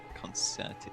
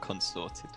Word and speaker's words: concerted: Concerted effort, not consorted. You know, you are actually correct. I did mispronounce that one, as opposed to pasta.